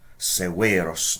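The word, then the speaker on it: severus: Severos. Notice the long E in the second syllable.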